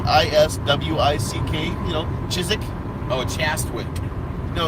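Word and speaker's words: Chiswick: for a fact that if you're from from the UK there are a ton of letters and it works you don't even bother pronouncing especially if it's an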